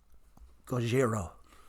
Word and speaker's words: Gojira: How do we pronounce it? Gojira.